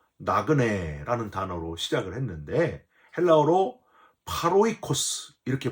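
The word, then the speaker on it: πάροικος: 1절 시작할 때도 나그네라는 단어로 시작을 했는데 헬라어로 파로이 그스 이렇게 발음을 합니다 한 나라의 국적을 가지고 있고 타양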